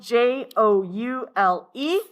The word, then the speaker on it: joule: It is spelled Joule.